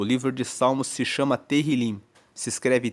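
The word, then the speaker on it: Tehillim: texto original, o livro de Salmos se chama Terilim. Se escreve T e H.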